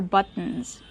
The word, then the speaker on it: buttons: These are buttons. That's right, those are buttons. Remember the pronunciation. Use the stop T, but, and then go to the N.